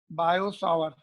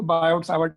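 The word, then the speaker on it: Biot–Savart: T silent है वैसे तो इनका, बायो सावर, बट हम लोग साइलेंट नहीं, उसको बायोट सावर्ट ही बोलते हैं इंडिया में, ठीक है।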